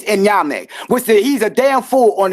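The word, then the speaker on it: Onyame: out Amma and then be like, no, it's Enyame. He's a damn fool on the Ashanti culture and don't know anything. And I don't respect him or believe he's from the Ashanti because Enyame, I didn't mispronounce it.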